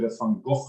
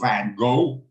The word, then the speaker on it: Van Gogh: I mean, someone might think everyone said Van Gogh, let's pronounce it properly, or Van Gogh, as the Americans call the painter.